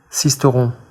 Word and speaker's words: Sisteron: So we brought in a real frog to give us the correct pronunciation. Stage 3. Stage 3, Nice to Sisteron.